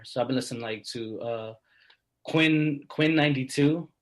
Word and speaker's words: Quinn XCI: So I've been listening to Quinn 92. It's spelled really weird. It's Quinn XCI. It's Roman numerals. Perfect. 92.